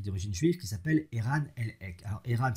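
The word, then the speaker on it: Elhaik: Et vous avez un généticien américain qui est d'origine juive qui s'appelle Eran Elhek. Alors Eran s'écrit E-R-A-N, Elhek, E-L-H-A-I-K.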